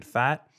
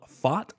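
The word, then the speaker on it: Pfaadt: And guys, I feel a little bit like a dummy, because for all this time, I've been saying Brandon Fat. I just think I learned it's called Fought, not Fat.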